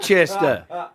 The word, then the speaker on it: Worcester: We throw letters in that are just That's spelled silent. WORCES something. TER, yeah. Worcester.